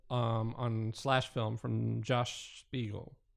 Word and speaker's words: Spiegel: Slash Film from Josh Spiegel. So Spiegel or Spiegel. I can never get that right, but I'm using the German pronunciation, Spiegel.